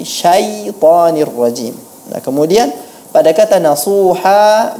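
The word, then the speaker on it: الشَّيْطَانِ الرَّجِيمِ: Kemudian pada peserta yang keempat, pelafalan minasyaitonir rajim, sebaiknya diucapkan dengan benar, bukan syaitan tapi syaitanir rajim.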